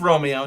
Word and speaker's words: Romeo: how to say it it's romeo just like romeo and juliet just like see i